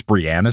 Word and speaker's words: Breanna: called me out for, apparently I've been saying Breanna Stewart's name wrong my entire life. It's Breanna Stewart.